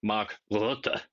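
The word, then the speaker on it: Mark Rutte: It's it's also funny that the guy delivering this message is Mark Rut, if you want to give him his proper Dutch pronunciation, who used to be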